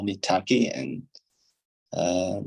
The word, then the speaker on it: Taqi: others to call me Taki and uh they're calling me Taki and Persian actually it is tati but people have trouble